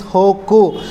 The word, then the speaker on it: Hegu: Hoku means normally we pronounce as a Hegu. Hegu is a He H-E-G-U, Hegu, but according to the Chinese pronunciation is Hoku.